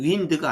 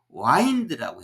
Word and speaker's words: wind: 강은 여기 이제 이걸 윈드가 아니에요. 여기 바람이 불다 바람이 아니에요. 윈드가. 여기서는 와인드, 2가지 의미가 있죠. 와인드라고 발음할 때는 이게 감싸다라고 하는 말이고 윈드라고 할 때는 바람이에요. 근데 여기는 와인드라고 해야 돼요.